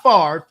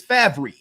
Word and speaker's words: Favre: Okay, it's not Favre, it's Favre.